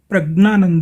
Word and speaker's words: प्रज्ञानंद: तो इनका जो नेटिव उच्चारण है तमिल के अनुसार वो प्रज्ञानंद है, क्योंकि जिस तरह से हम लोग हिंदी वाले जो हैं वो ज्ञ का उच्चारण ज्ञ करते हैं, वो एक अशुद्ध उच्चारण है लेकिन परंपरा अनुसार ही है ये। तो उसी तरह से तमिलनाडु की परंपरा के अनुसार ज्ञ का उच्चारण है ज्ञ, और गुजरात में भी